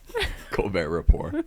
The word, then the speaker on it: Colbert Report: I didn't hear it either time. Wasn't it the Report? Because like he was making fun of the fact that the T's silent in his name.